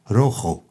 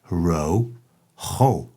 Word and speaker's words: rojo: green birdie green bear day green birthday red rojo red row ho red rojo red rojo white blanco white plan